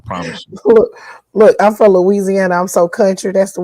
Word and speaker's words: Louisiana: So, is it pronounced Louisiana or is it pronounced Louisiana? I mean, you could say it either one, but it's really Louisiana. Louisiana.